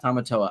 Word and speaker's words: Tamatoa: Tamatoa.